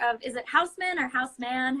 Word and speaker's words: Houseman: is the owner of is it Houseman or house man how do you guys pronounce it Houseman Houseman yeah so he the